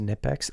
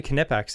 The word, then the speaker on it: Knipex: It's pronounced Nipex. Oh, let me tell you a story about that quick. Nipex or Knipex? It's actually Knipex and I'll tell you why.